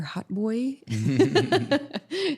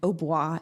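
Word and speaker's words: hautbois: hot boy the american pronunciation so dr h au tboi and Oh blah is the French word for oboe so it's kind of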